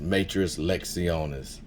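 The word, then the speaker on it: matres lectionis: Everybody who knows it's pronounced Matras Lectionis.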